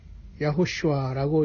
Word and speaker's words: 야호슈아: 약간 우리는 히브리 말로 가까운 예수님의 이름을 야호슈아라고 이렇게 발음합니다.